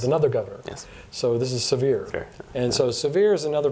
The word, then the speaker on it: Sevier: that's John severe um I would say Sevier in Quebec but it's severe is how you pronounce that I guess uh he